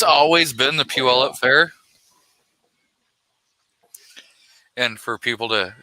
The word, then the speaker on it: Puyallup: How do you pronounce it? Puyallup. Puyallup.